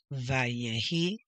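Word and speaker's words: ויהי: Vayehi. Erev. Vayehi. Voker. Yom. Remember when the dot is over the letter? It is pronounced O.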